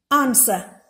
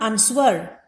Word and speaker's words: answer: letter p is per answer it is not answered it is answer so the w sound in the middle in the middle is silent next we have certain